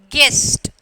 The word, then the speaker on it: guest: So, you are when you are pronouncing, the U is silent. Okay, biscuit, biscuit, and then guest, and then disguise.